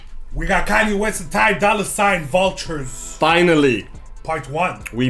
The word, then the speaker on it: Ty Dolla $ign: Ty Dolla ign, bro.